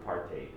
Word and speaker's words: apartheid: of you ever heard of apartheid apartheid you can pronounce it either way yeah i know exactly